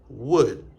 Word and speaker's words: would: après ces expressions là à remarquer également que il pas prononcé dans could and should. OK. N pas dit could mais nous dit could nous pas dit should mais nous dit should. N pas dit would mais nous dit would.